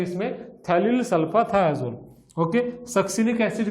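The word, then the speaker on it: ftalil: Okay, थैलिल सल्फाथायाजोल, तो P उसका silent है इसलिए उसको हम T से बोलते हैं, थैलिल सल्फाथायाजोल।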